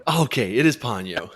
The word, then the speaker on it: Ponyo: It is Ponyo. He was right. Okay, it is Ponyo.